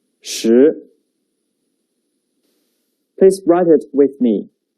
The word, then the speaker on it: 十: The pronunciation is 十. 跟我读. 十. 十.